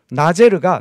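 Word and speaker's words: נֵצֶר: 가지의 히브리어 발음이 나제르입니다 나제르가 나사렛 사람하고 발음이 아주 비슷합니다 그래서 나온 주장이 무엇이냐면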